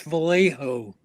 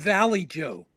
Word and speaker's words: Vallejo: him back in 1991, he didn't even pronounce Vallejo that way. He seriously he called it he called it Valley Joe.